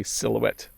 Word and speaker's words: silhouette: a shadow so that's how we would say silhouette and monorail uh let's see here um i'm